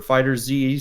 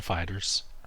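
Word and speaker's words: FighterZ: Dragon Ball Fighters or Fighter Z, still don't know how you pronounce that game, is normally $60, and it's $18 on the eShop right now. It's Dragon Ball Fighters.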